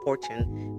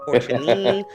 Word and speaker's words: Forchione: I was saying his name is Fortune, but it's not spelled like fortune.